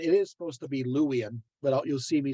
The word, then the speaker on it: Luwian: louisian sometimes I say lubien as of you know it's it's it's a German part of me uh pronouncing uh W's as V's but it is supposed to be louian but you'll see me